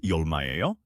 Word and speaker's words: 얼마예요: The pronunciation is 얼마예요?